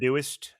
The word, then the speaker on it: MadeWest: It's We not got- that's- pronounced Meduist. Meduist. Medu Meduist. West. Meduist. Meduist. It's all one word, Meduist.